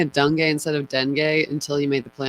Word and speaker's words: dengue: i just googled it it's dengue but okay google gives you the american pronunciation of a word as opposed to the other pronunciation okay all right um